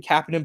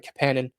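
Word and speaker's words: Kapanen: I I keep saying Kapan, but I believe he pronounces it uh Capan.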